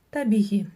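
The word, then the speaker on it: табиғи: Здесь нужно прочитать научиться читать только букву Г с чёрточкой посередине. А для этого нужно просто отхоркнуться через букву Г обыкновенную. Табихи.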